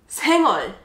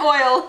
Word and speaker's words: 생얼: Not oil. Okay. 얼. Oh. Oh. Wow. It's hard to pronounce that. Yes! Korean L's are really, really hard, I think, for foreigners to pronounce.